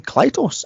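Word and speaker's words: Klytus: That pronounce his name Klytos.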